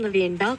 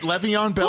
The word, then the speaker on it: Le'Veon Bell: Is that how it's pronounced? Wait, say that again. Is it Le'Veon Bell?